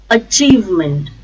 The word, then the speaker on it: achievement: count accountant achievement achievement a chief meant the stress is on second syllable chief achievement achievement acknowledge acknowledge stresses